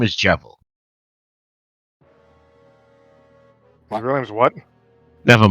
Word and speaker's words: Jevil: Jevil. Yes, we look Jevil Deltarune. Wait, how do you spell it? Jeval. Like devil, just with a J.